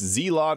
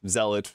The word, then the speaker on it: Zealot: Now, this is pronounced Zealot. I've gotten people tell me it's Zeot. It's Zealot. Look it up.